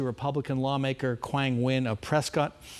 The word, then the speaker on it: Prescott: He was rebuked for a racist remark on X to Republican lawmaker Quang Nguyen of Prescott. Prescott, I know how it's pronounced.